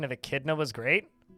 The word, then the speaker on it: echidna: turned on saw someone's larvid last night and pronunciation of Echidna was great how did they pronounce echidna I